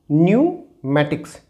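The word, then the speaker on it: pneumatics: इन the same way here also P is silent, सो इसका जो pronunciation होगा it will be न्यूमैटिक्स।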